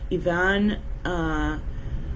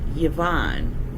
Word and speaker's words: Ivan: Migrant caravan, and the photo credit is Ivan Sanchez. Ivan, not Yvonne. So male, not female.